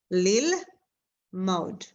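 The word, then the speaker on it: ללמוד: And this Shva is silent here, like there is no vowel here, it's gone. And the way I would read it, because like there is no vowel, I would say lil. Okay, now I broke it down, lil, right? Because this is the E vowel, lil. And then now I focus in here, and this is the O vowel, it will be mod, lil, mod. Lil mod means to learn, okay?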